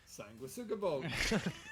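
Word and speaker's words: Sanguisugabogg: How the fuck do you pronounce Sanguisugabog? Sanguisugabog. I only know that because Dave said that. If Dave is wrong about that, then we are all wrong about that.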